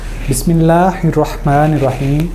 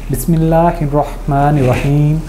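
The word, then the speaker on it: بسم الله الرحمن الرحيم: बिस्मिल्लाहिर्रहमानिर्रहीम हे को थोड़ा सा खुला पढ़ते हैं, तो आपको सिर्फ इसको प्रोनाउंस करना पहले तो सही होना चाहिए, बिस्मिल्लाहिर्रहमानिर्रहीम।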